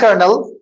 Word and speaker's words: colonel: यहाँ पे ओ साइलेंट है और इनविजिबल क्या है यहाँ पे, आर।